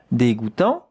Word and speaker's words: dégoûtant: D with an accent, it's not de, it would be de without the accent. Dégoût, here we have the sound goût, J-O-U, goût, tant, T-A-N-T. But the T at the end, you don't hear it.